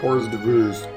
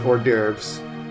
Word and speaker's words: hors d'oeuvres: specific order starting with the devooze where's doo-roos i am aware that it's spelled or pronounced hors d'oeuvres but i hate it